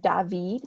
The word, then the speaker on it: David: to clarify it's pronounced David but it looks like David and this is because he's French so this is the